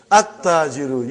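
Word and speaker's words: التَّاجِرُ: At-tajiru. You did not pronounce lam. Why you did not pronounce? Because it is sun letter.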